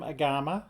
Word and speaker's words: Āgama: So agama pronunciation the term agama Sanskrit according to the AI refers to yeah it's referring to Hindu Buddhist scriptures is pronounced agama all right so agama aava a aama yeah that that sounds right to me so and we will